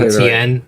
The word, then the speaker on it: Etienne: had the Jets kind of following up with Etienne. Did I say it correctly that time? Etienne, yeah, you got Etienne. it right. Okay, that's gonna be the whole struggle with me pronouncing his name the entire season.